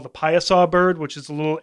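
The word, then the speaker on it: Piasa: of history it's also got something called the pieasaw bird which is a little it's a Native American um like this weird Griffin Bird thing p-i-a-s-a it's pronounced payasa and it's carved into the side of a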